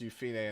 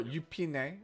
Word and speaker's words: Yufine: It is pronounced Yufine in the video. You can hear her say it. Or Yupine, I believe is how it says in Korean.